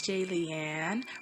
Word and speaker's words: Jaliane: happening to you hey it's jay leanne rhymes with alien like if you're a